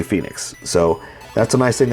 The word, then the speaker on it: Fennix: I know it looks like Fenix, but that doesn't feel right to say. So I'm just going to say Phoenix.